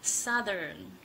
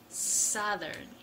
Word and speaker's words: Southern: second language today I am showing how to pronounce Saturn Saturn this is pretty difficult word so let's start